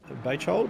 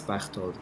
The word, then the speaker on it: Bechtold: It's Bechtold, actually, but I don't think that English speakers are very well equipped to pronounce that.